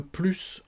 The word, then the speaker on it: plus: petites règles à connaître on va prononcer ce s quand plus signifie davantage qu'on additionne quelque chose j'en veux plus on va prononcer ce